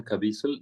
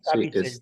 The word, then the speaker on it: Caviezel: No, ahorita me acabo de enterar una declaración de Jim Caviezel de que haya El actor también otro de La avance de Pasión, estos. ¿verdad? Sí, Jim sí, Caviezel. Yo lo conozco como Caviezel, pero bueno, Caviezel, buena pronunciación.